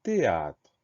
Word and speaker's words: théâtre: souvent, c'est le mot théâtre. Première syllabe T, on va l'écrire T-H, E accent aigu. Donc là, on a une lettre muette, ce H au début du mot.